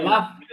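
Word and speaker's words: laugh: লোক লাগ লাগ লাগ লাগ হাসা, নো, নো, নো, এটা লাভ না, এটা লাফ। লাফ, লাফ, হাসা, লাফ।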